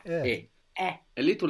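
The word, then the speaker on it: è: Now, this e is pronounced a little bit smiley. So make a smile, and with an open mouth, make e. And there you will get the sound. Smile and open mouth.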